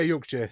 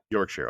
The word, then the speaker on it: Yorkshire: It's pretty entertaining listening to people try and pronounce that one without knowing. So would you say Yorkshire? Is that right? Yeah, Yorkshire. Yeah, Yorkshire.